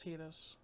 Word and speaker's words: Tidus: the world for centuries and it falls upon Titus who unexpectedly arrives in spir to guide Yuna on her pilgrimage to defeat sin it's actually pronounced Titus featuring an unforgettable cast of characters and possibly